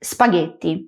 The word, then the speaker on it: spaghetti: Una palabra supercocida y estoy segura de que conoces es spaghetti.